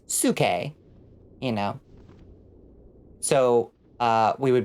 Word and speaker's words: Psyche: Like, the word, you know, the name Psyche is Suke, you know.